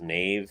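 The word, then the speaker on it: knave: called uh ruthless uh I believe it's pronounced Nave it's spelled k n a v ruthless hold on present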